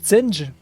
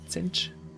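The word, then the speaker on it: Tzeentch: Et Tsenj, alors ça s'écrit T-Z-E-C-H, je crois, Tsenj.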